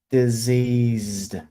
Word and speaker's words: diseased: One has the vocal cords turned on, one has it turned off. Deceased, diseased. Can you hear that? I just go like diseased, deceased. I have to turn my vocal cords off to pronounce deceased.